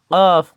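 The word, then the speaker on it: ك: আর কাফ, কাফ কত নম্বর মাখরাজ? কাফ হলো 5 নম্বর মাখরাজ। কাফ জিহ্বার গোড়া থেকে একটু আগে বাড়িয়ে উচ্চারণ করতে হবে।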